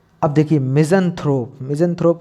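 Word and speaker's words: misanthrope: अब देखिए मिज़ेंथ्रोप, मिज़ेंथ्रोप को कैसे हम, मिज़ेंथ्रोप देखिए मैंने तो बोल दिया मिज़ेंथ्रोप, लेकिन आप इसको कैसे प्रोनाउंस करेंगे? तो मिज ऑन थ्रोप, मिजोन थ्रोप, मिजोन थ्रोप।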